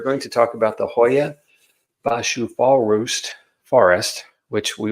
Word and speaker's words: Hoia Baciu: I'm gonna give you how it's pronounced in Romanian and then I'm gonna I'm going to English it up for the rest of us so um we're going to talk about the Hoya bashu fall Roost Forest which